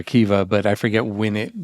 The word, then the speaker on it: Akiva: I mean, obviously it's Akiva. The syllables are Akiva, but I forget when it became Mamima.